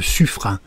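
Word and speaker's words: Suffren: un nouveau sous marin le suffrin oui c'est curieux mais c'est ainsi que ça se prononce et c'est ici à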